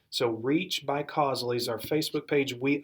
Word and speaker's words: Causely: it it's reach by Causley and I'll spell it just think of the word cause CA u c l why so reach by Cosley is our Facebook page